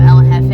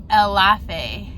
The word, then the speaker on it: El Jefe: He was saying he said El Lafe. It sounded like he was saying I am laughing.